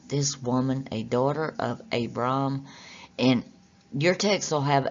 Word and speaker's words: Abram: written in greek is abram and it's a brahm with two a's the reason it's got two a's is that means a long a sound it doesn't mean that